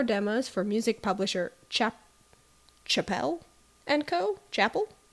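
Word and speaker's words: Chappell: for music publisher chap Chapelle and Co Chapel it spelled like Chapel round so I'm going to say Chapel okay so Jenner agreed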